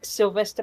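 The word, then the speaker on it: Silvester: Another really nice Sylvester party, because of course, as Tosha will no doubt explain, they call New Year's Eve Sylvester in Germany.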